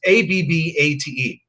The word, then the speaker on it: Abbate: And when I say nomen es omen, that guy's name is Abate. It's Abbate. Actually, there's an Abate on the Howard Stern thing. So it's his name is Abbate. They pronounce it Abate.